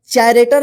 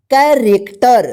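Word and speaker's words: character: आर इसको क्या पढ़ेंगे चरेक्टर नहीं पढ़ेंगे क्या पढ़ेंगे इसको कैरेक्टर ध्यान रखिएगा कैरेक्टर चरेक्टर नहीं कैरेक्टर ठीक यहां प देखिए सीच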